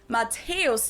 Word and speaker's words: Matthäus: mentioned the name Mäuse, Matthäus, where you'll find the same letter combination, but in this case, it's not considered a Matthäus. diphthong, but rather two separate syllables, so it's pronounced Matthäus here instead Matthäus.